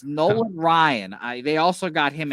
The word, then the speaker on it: Nolan Ryan: know I just wanted to make sure it's noan Ryan it's Nolan Ryan I they also got him in 1988 so